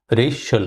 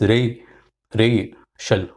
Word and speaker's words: racial: Racial is two syllable. The first syllable has got stress, emphasis. So it is racial, racial, racial.